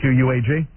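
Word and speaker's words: Quogue: You spell it Q-U-A-G? That's from Miss Spelling. Yeah, these guys screw me up every day. It's Q-U-O-G-U-E, isn't it? Yeah, that would be Quag. Right. But what they have there is Quag, Long Island.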